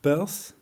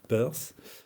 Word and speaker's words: Peirce: recherches leur pierce alors madame thiercelin du collège de france dit plutôt peur évidemment prononce en anglais perth donc je vais faire en français pierce divise les choses en